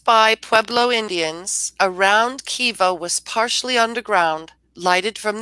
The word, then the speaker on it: kiva: Am I pronouncing the word correctly? Kiva? Yes. What is the language of origin? Hopi. Can you please use it in a sentence? Used by Pueblo Indians, a round kiva was partially underground, lighted